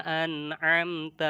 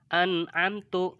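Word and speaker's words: أنعمت: Apabila huruf an'amta nih an'amta ya dihilangkan, dibaca an'amtu, dibacanya an'amtu bukan an'amta, an'amtu ya. Taknya diganti sama tu, domahnya fathahnya diganti sama domah. Ini sudah salah ya.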